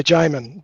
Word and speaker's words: Jamin: Yeah, Jamain. Benjamin without the Ben, so just Jamain, or call me anything.